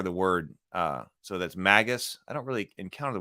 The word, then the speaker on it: Magus: that is uh so magus so the word is Magus here I can't see Magus has a hard G by the way unlike Magi which has a g that sounds